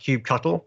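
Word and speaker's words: kubectl: a cube cut' or cube catalyst the command line to deal with cuban at ease cube other people pronounce two different ways it's officially pronounced cube shuttle don't let anyone tell you different so cube shuttles get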